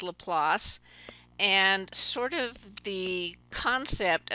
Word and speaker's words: Laplace: the place as this is Laplace anyways it's pronounced Laplace and sort of the concept of a transform